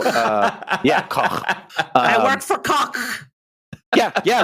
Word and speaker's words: Koch: And in Germany they pronounce it Koch. So Koch.